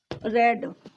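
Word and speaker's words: read: लेट the lesson B, अब यहाँ इसकी third form रेड, रीड रेड रेड, second form spelling वही होती है इनकी रीड की, लेकिन इसका जो प्रोनाउंसिएशन होता है वो चेंज हो जाता है।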